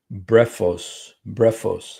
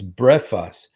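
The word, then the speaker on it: βρέφος: The word babe, brephos. Let's see how to say it. Brephos. Okay. I know it sounds like breakfast, you guys, but it's brephos.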